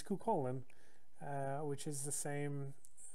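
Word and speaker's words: Cúchulainn: i was a kid i always pronounced that his name quickly but his name is cu colin it's just a poor translation poor uh typography of his name but he's kukolin uh which is the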